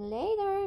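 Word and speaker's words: later: میبینمت اگه کنارش بگیم لدر میشه بعدا میبینمت سیو پس میبینمت لدر بعدا میبینمت ل ل ل خب ما نمیگیم لتر میگیم لتر یه جور یه د خفیف تلفظ میکنیم و ت کر ت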